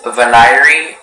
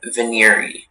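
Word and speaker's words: venire: Yeah, there is veneri and veneri.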